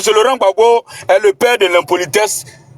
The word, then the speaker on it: Laurent Gbagbo: Prononce son nom. Bon, c'est Laurent Gbagbo. Ok, merci beaucoup. Merci beaucoup. C'est Laurent Gbagbo.